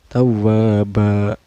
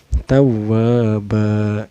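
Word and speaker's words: تَوَّابًا: Cara bacanya ini cukup di patah aja ya, bukan tanwin. Tawwaba, tanwinnya diganti jadi patah. Tawwaba gitu.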